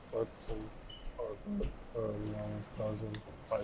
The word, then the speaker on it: Burzum: Have you guys, John, have you heard of a band called Burzum? Or known as Burzum by some, like it depends how you pronounce it. What is it again? Burzum, like B-U-R-Z-U-M.